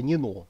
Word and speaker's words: Нино: Грузии считается вот ну по-грузински это Нино не Нина а Нино Ну по-русски Нина Ну в сущности это в общем одно и тоже Но по-грузински более правильно нено вот это вот главные